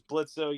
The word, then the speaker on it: Blitzo: My name's Blitzo. Yes, the O is silent.